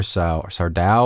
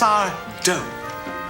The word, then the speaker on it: Sardo: Is it Sardo or Sardao or? It's wrong. It's wrong, buddy. It's there is no Mister for starters, and the accent is on the dough. It's Sardo.